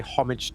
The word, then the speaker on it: homage: on the BMW M1 homage I do believe that you're supposed to pronounce it the French way although we'll often say pay homage to but that's convenient because